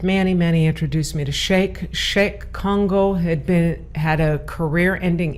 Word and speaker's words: Cheick: How do you spell that? Cheick. The last name is easy. Congo, Kongo. Okay. Actually, his family is from the Republic of Congo, Mm-hmm. so it's his stage name, Congo, Kongo. Okay. Because I was thinking like Shake Shack. Shake Shack. No, pronounced like Shake Shack. Right. Spelled not.